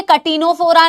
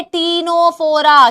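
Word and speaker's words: Ctenophora: okay जी आगे बेटा ये कटिनो फोरा नहीं है कटिनो फोरा नहीं है सी साइलेंट है ये है टीनो फोरा क्या है ये टीनो फोरा पहले सी टा आया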